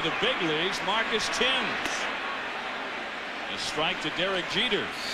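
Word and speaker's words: Thames: with a hit and it looks like it should be pronounced like the river that runs through London looks like themes but it's actually pronounced Tims swinging a high drive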